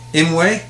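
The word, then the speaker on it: Îmwe: I don't know what the proper pronunciation of his name is. You got the cheat sheet right there. Inway.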